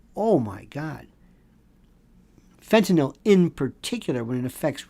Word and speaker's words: fentanyl: many people cannot pronounce fentanyl they call it fentanyl o l when it's fentanyl yl I'll never understand that